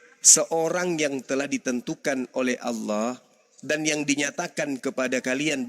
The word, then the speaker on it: Allah: baik-baik itu ada itu a l l a ha itu ada ah I itu bacanya apa Allah karena karena ini berasal dari Quran maka kami membacanya Allah lah berasal dari Quran